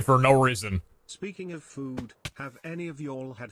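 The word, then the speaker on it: phở: no reason speaking of food have any of y'all had vietnamese foe pronounced foo best soup to exist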